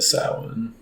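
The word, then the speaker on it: Samhain: exciting unofficially officially kicking off the countdown to Salmon that's right you actually pronounced it correctly good job yeah it's only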